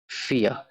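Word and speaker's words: vier: ভি কে ফাও বলে, তবে ফাও বললেও ভি এর উচ্চারণটা ফ এর মতো বাংলা। তো এখানে ফিয়া লেখা, যার অর্থ চার। এবং আরেকটা জিনিস, সেটা হচ্ছে যে জার্মানিতে লাস্টে আর থাকলে এটা খুব কম সংখ্যকই যে উচ্চারণ হয়, আরটা আর কি উজ্জ্ব থাকে।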